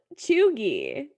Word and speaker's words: cheugy: It is called cheugy.